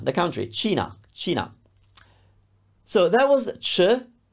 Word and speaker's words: Cina: Cina. The country. Cina.